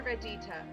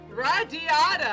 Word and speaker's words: Radiata: Let's head back to Radita. Radiata! I've been pronouncing it wrong the whole time.